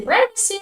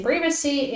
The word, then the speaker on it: privacy: definitions the examples privacy some people say privacy but in British pronunciation we say privacy and you know like uh usually I follow British pronunciation uh and British English